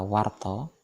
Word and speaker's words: warta: katanya berbunyi akhiran ro, seperti kata warto utawa warta diucapkan dengan kata warto, kabar, dan garwo. Pada penulisan yang benar ada aksara wo, di atasnya diberi layar, maka berbunyi war. Setelah itu aksara to, maka berbunyi warto.